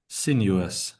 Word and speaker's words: sinuous: So you would say sineuous. Sineuous sineuous like Yeah. like you like you pronounce the word sin and then just blend it into the rest of the like letters of the word.